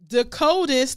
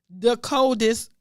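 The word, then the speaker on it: De'Coldest: His name is spelled D-E apostrophe capital C-O-L-D-E-S-T. The coldest Crawford.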